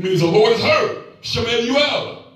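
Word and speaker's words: שמואל: Shemuel. That's how you say it in Hebrew. Shemuel.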